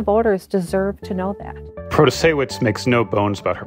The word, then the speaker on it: Protasiewicz: It's Janet Protasiewicz. Janet Protasiewicz. Protasiewicz.